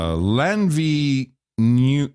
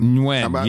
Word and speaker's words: Nguyen: Lanvi New. I think it's Nguyen. Nguyen, yes, Nguyen.